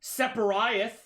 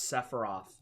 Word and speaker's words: Sephiroth: Separiath. Separiath. This is my favorite, chills. Which is like him reading RPG characters, but he doesn't know how to pronounce Sephiroth.